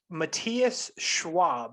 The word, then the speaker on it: Matthias Schwab: Matthias Schwab, is that how you say it?